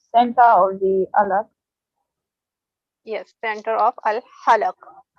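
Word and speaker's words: الحلق: Yes, center of al-halaq. Say after me, al-halaq, Al-alaq. not alaq. Ha, ha. Again, the word you pronounced, it has ha again. Okay. Al-halaq. Al-halaq. Al-halaq.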